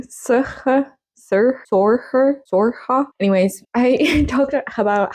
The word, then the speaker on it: Saoirse: So yeah, I think the last time we spoke, I just talked randomly about Saoirse, Sorge. It's still hard for me to say her name. Sorge.